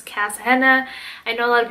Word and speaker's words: Kasshenna: i just cut it i put cass in front of it so it's cass henna i know a lot of people say kashina and all these other names but it's actually cass hannah that's the way that